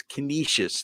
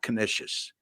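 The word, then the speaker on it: Canisius: in h Buffalo um it's kious not kishis all right so Sean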